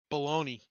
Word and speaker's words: bologna: never do that again baloney you better call me if you need anything see he he says we all know it's spelled bologna um speaking of speaking